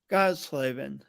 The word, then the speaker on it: Gottsleben: name that's labor you did really good God slaving God slavin yep so can god slavin